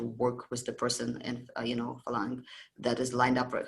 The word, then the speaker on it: phalanx: How to say it? Phalanx. Phalanga in Russian and Greek, phalanga, but phalanx. It was that was a